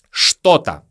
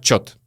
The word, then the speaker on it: что-то: Что-то. Что-то. Чаще всего мы произносим как чет.